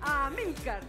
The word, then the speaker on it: Amílcar: Amílcar. Ah, sí. Con acento en la I. En la I. Amílcar.